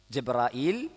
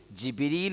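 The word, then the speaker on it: جبريل: എന്ത് ചെയ്യും ഹംസ് ഉപയോഗിക്കും ജിബ്രായിൽ മിക്കായിൽ പല ഹിജാസുകാര എന്ത് ചെയ്യൂല ഹംസ് ഉപയോഗിക്കും അപ്പോ അറബികൾക്കിടയിൽ ജിബിരീൽ എന്നും ജബ്രായിൽ എന്നും രണ്ട് ഉച്ചാരണംഉണ്ട് മീക്കാൽ എന്നും മീക്കായിൽ എന്നും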